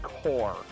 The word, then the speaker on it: Corps: So, For future note, when they say that word spelled corpse, like C-O-R-P-S, it's usually pronounced core.